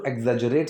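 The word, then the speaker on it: exaggerate: इस बढ़ा चढ़ाकर बोलने को हम बोलते हैं टू एग्जेजरेट समथिंग। इसकी प्रोनाउंसिएशन बहुत से लोगों से नहीं होती है, तो थोड़ा सा पार्ट्स में बोलना। एक्स, ई एक्स, एग्जे, फिर जरेट, एग्जेजरेट।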